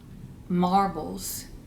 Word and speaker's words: Marblz: And I have been wanting a set of Knitter's Pride marbles, interchangeable needles, for a long time.